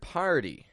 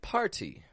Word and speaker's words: party: from all over are omitting the r from the word party and they're making it sound like potty potty or to avoid